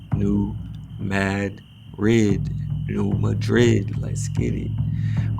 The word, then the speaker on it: New Madrid: the Spanish Capital but now pronounced defiantly and definitively new Mad red Real Madrid let's get